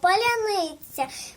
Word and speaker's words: паляниця: як Батьківська хата кот маленьких українців знати слово паляниця паляницю вимовляємо значить дикцію ми маємо паляниця паляниця Поляниця